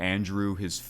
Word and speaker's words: Andruw: Yeah, Andruw, it's spelled, instead of a E-W, it's U-W. But it's the same pronunciation.